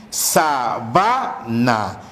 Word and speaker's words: sabana: De igual manera tenemos aquí sabana. El término sabana implica una parte de la selva donde existe o hay poca vegetación, que es distinto a decir sábana.